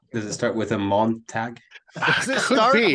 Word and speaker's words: Montag: does it start with a Montag? Does it Could start be. with a It Montag? rhymes with, right. It rhymes with Dawn Tag.